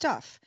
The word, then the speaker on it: TUF: like scuba or potus tuf but pronounced tough it's like aces can't